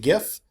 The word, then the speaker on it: GIF: There is some debate as whether or not this is pronounced GIF or GIF. I pronounce it GIF. GIF is a peanut butter.